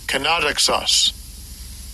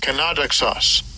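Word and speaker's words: κενόδοξος: And this is a Greek word here, G2755, and I'll give you a pronunciation of it. Strong's G2755. Kenodoxos. Kenodoxos.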